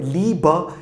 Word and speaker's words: Liebe: Liebe şeklinde okunuyor.